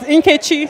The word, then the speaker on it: Nkechi: Okay, I will say it correctly now because So I'm Nigerian as well, so I'm going to help you with your pronunciations. Nkechi.